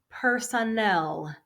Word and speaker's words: personnel: Personnel. Last syllable has a stress.